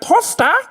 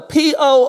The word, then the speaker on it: poofter: but it's the word posta. I know that it is spelled the P-O-O-F-T-E-R. And so I'm told that if we had it in America, I would pronounce it poofter.